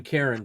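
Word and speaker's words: Caron: anything but you know this this director Benjamin Karen did I say his name right yes you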